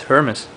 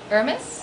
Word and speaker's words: Hermes: so does it have a name yeah it's Hermes Hermes Hermes yeah how do you spell that h e r m e s oh